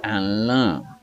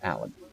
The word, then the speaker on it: Alan: They're not sure how to pronounce it because it's not a nasal vowel at the end. It's Alain. Okay, so that's kind of thing, and I have to say no, it's Alan.